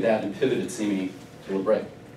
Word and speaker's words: Labre: It's actually a French word, it's Labre. It's based, named after Saint Benedict Joseph Labre. He's the patron saint of the homeless. We call it Labre because we're Americans and we're phonetically challenged, so it's Labre.